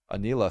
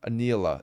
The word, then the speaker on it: Anila: you guys like Anila Anila it's like yeah like Anita but with an L Anila Anila I don't